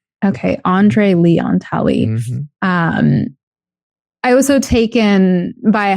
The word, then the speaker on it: Andre Leon Talley: And how do I pronounce the second person's name? Andre Leon Talley. Okay, Andre Leon Talley.